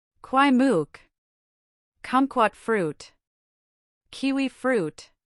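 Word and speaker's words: Kwai Muk: Kwai mook.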